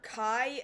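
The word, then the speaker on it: Ky: They're spelling it K-Y, like as in, like, the lubricant. like Kai, like K-Y. K-Y, yeah. So, like, you could get, like, K-A-I could have been pronounced Kai or K, but no, that's not how it's being spelled. It's K-Y. Now, the other thing I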